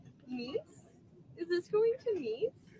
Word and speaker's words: Nice: I'm not sure exactly how it happened, but they were planning to go to France in particular to Nice. Um, Nice is spelled N I C E.